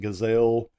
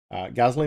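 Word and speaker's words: Geissele: that use the GLE stuff um some people pronounce it gazelle gazy it's the proper pronunciation for it is gley gazley makes a great trigger they're expensive but they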